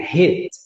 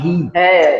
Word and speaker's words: hit: Mas o bater de tipo bater, hit. E assim, se escreve com I, mas a gente já aprendeu hoje na nossa live que nós não vamos falar ri, tá, pessoal? Nós vamos falar hit, tá bom?